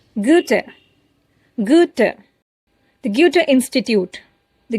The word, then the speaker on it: Goethe: like to highlight that most people, in fact, almost everyone pronounces this particular word incorrectly. They say "Goethe", "Goethe", and many other ways. I would like to correct it. It is Goethe.